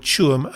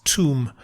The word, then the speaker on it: Tuam: One note about it, he sometimes mispronounces the word Tuam as Tuam.